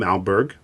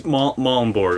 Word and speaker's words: Malmborg: Today I have as my guest Malberg. Am I pronouncing that right? It's Malmborg, like Malm like palm and Borg like Star Trek.